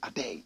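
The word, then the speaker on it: Adei: Professor Stephen Adey said it. Find me a photograph of the good old professor. Adey is spelled A-D-E-I.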